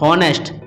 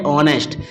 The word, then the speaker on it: honest: जैसे देखें आप, ये लिखा है HONEST, हॉनेस्ट। हॉनेस्ट नहीं है बच्चों, ये है ऑनेस्ट। इसमें एच जो है साइलेंट है, तो इसका उच्चारण क्या होगा?